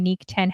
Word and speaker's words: Niq: always BS everybody says Nick is Nick DJ Nick yeah so I'm pronouncing it right he always bothers me he's